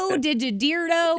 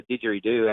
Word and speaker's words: didgeridoo: The Australian, is it the Australian Digidito? Digidirdo? Yeah, what is that thing? yeah. And what Didgeridoo, right? Did I say it right? Not close at all. No, it's called the didgeridoo actually, and it's an Aboriginal